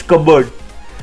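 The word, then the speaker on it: cupboard: इट्स बोर्ड और something it's कब का इसको बर्ड्स तो कब बोर्ड नहीं होता मोस्ट टेरिबल से विकास कब बोर्ड बट इट्स कबर्ड it means और रिसेस और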